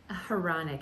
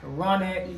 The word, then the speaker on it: Hronec: And Hronec. It's like ironic. okay, like Yes. ironic, Hronec.